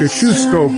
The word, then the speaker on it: Kosciuszko: New Kosciuszko Bridge, pronounced Kosciuszko Bridge, and expanded.